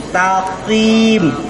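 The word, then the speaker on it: مستقيم: mustaqim ya mustaqim bukan mustaqim kalau Takim salah itu huruf Kaf bukan huruf q kebanyakan kita dulu bacanya mustaqim ya Takim gitu tu bukan tapi mustaqim taqim gitu ya taqim Pak Yudi silakan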